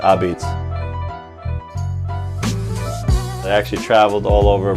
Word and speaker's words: Abeetz: the abbeys pizza truck our beats came from my grandparents they they were immigrants from Italy and they spoke broken English when they came that's kind of how they pronounce pizza I beats I actually traveled all